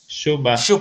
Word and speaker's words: Dziuba: This game is against, I don't know how to pronounce his first name. Okay, Marcin Dziuba? Shuba.